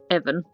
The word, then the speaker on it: Evan: That evening, Evangel, nicknamed Evan, sorry, I've been saying his name wrong, I think I said Ivan earlier, that was wrong, just went back to his apartment after a hard day at work.